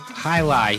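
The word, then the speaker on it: jai alai: Jai, I don't know how they even pronounce it. Like Jai. It's a crazy sport. Flinging balls at like 150 miles an hour at each other's faces. Not basketball. Not soccer. Highlight, yeah, highlight. That's how they pronounce it. That's right, highlight.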